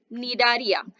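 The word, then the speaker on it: Cnidaria: आप क्या कहेंगे, फाइलम नियाड्रिया। ठीक है, फाइलम निडारिया। सो आपको यहाँ पर सी साइलेंट हो जाएगा, जैसे मैंने आपको बोला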